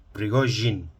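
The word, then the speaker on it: Prigozhin: loca con el tema se pronuncia con esa sh con r en medio Rigo Jean de acuerdo ese ruido a voz de insecto de acuerdo Bueno lo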